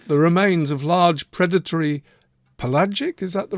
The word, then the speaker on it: pelagic: know why so the remains of large predatory pelagic is that the right way to pronounce that word I don't even know what